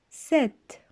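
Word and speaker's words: sept: fois 6 le chiffre 7 voyez à noter que la lettre p au milieu ne se prononcent pas il s'agit d'une lettre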